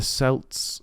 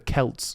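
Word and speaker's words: Celts: evil spirits walking the Earth during swin the selts the Kelts sorry the it when you look at the way kelt is spell it should be spell it should be proun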